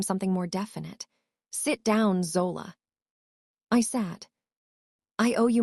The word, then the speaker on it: Zola: Zola, he said finally. My name in his mouth. He pronounced the O long like he had been practicing it.